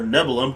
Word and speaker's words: Nibelheim: Last time we arrived in the town of Nibelheim, or Nebulum, however you want to pronounce it, and then we investigated the Shinra Mansion.